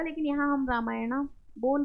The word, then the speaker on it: रामायण: द भी बोल सकते हैं, द रामायण। अब देखिए वही लास्ट में ए है, रामायणा, लेकिन रामायणा हिंदी में तो गलत रहेगा, लेकिन यहाँ हम रामायणा बोल भी सकते हैं, और नहीं बोलेंगे तब भी ओके।